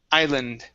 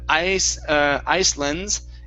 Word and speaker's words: island: you is the word island okay in this word the s at the beginning is silent so instead of ice ice lens it's islands islands isle islands very good very good